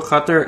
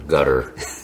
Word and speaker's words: Qatar: It's Qatar or gutter. Sorry. That reminds me of when President Obama would say Pakistan. Oh, yeah. Like, no. It's Pakistan. It's Pakistan. That's right. Well, the locals call it Qatar. That's why the people say gutter, because they pronounce they